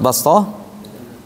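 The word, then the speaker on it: بسطة: Antara sin dengan sod, kalau sin ditarik sedikit. Bas. Kalau sod enggak, bas.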